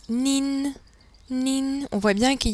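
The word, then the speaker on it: 您: tu ni est prononcé ni vous poli se prononce nine nine on voit bien qu'il y a le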